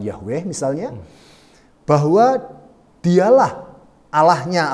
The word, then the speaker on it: Yahweh: dengan menggunakan nama yhwh itu ya pelafalannya seperti apa ada banyak diskusi tentang itu tapi kami menggunakan pelafalan Yahweh misalnya bahwa dialah Allah